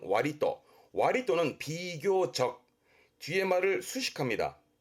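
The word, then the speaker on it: 割と: 이렇게 쓴 발음은 와리또.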